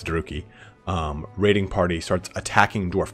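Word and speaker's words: Druchii: Because from this point, it depends on how you want to pronounce this, Druki or Druchi. I like Druchi, but I know it's Druki.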